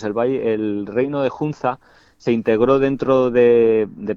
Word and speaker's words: Hunza: Es el valle de Hunza, no sé si lo digo bien lo de Hunza o se dice se pronuncia de otra manera. Sí, sí, sí, así es. Sí, Hunza.